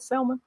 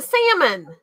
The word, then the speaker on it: salmon: want sketchy play don't some people call it Selma maybe weirdos there's the L is silent have you ever heard on the Discovery Channel the Salman went upstream no the salmon I can't do sushi